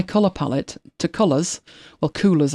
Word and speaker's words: Coolors: palette to Colours, well, Coolors I suppose it's pronounced with double O, and have a look at it in there.